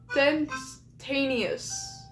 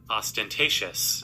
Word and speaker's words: ostentatious: from subtle to openly aentaneous. That is not how you pronounce that word. I'm going to look up what it means. Um how is it pronounced? Let me see. ostentatious on.